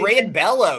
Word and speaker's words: Brayan Bello: No, that's not Brayan. Is that how you say it? Brayan Bello, yeah. Brayan Bello.